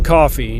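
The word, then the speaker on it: Coffey: Mile my name is John coffee just like the beverage but it's not spelled the same you know pearly gates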